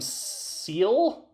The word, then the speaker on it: Seele: movie are Nerv and Seele. I can't put So, they're It's basically kind of a play on mind and soul cuz I think it's pronounced Seele. It's a German word that means soul.